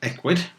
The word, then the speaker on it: Ecwid: okay so very quickly ecwid is pronounced ecwid it's short for e-commerce widget and it's effectively a